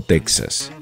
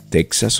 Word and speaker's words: Texas: les habla estivo caranda mucha gente se pregunta cómo se dice Tejas o Texas Texas O Texas Y por qué la